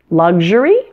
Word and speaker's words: luxury: it's different isn't it luxury luxurious the word luxury stresses the first syllable luxury but luxurious stresses the second syllable luxurious luxury luxurious now